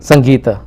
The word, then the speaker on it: Sangeeta: And how do I pronounce it? Sangeeta.